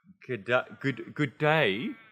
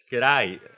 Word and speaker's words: g'day: So it's not good day, how's it going? It's g'day.